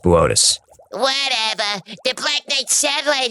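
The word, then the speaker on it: Boötes: It's pronounced Botus. Whatever. The Black Knight satellite is uh supposed to be from Booties.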